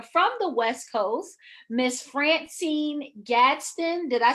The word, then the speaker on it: FranCine Gadsden: And I want to bring to you a fabulous business owner from the West Coast, Miss FranCine Gadsden.